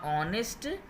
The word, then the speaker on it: honest: लिखा हुआ है द ऑनेस्ट फार्मर अब ऑनेस्ट का यह देखिए यहां पर ऐड लिखा हुआ है इंच का यहां पर हम नहीं बोलते हैं जिन बच्चों यहां पर रस साइलेंट होता है तो हो गया द